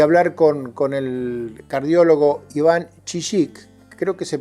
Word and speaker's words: Chillik: intención nuestra de hablar con el cardiólogo iván kisic creo que se pronuncia así sino él me va a corregir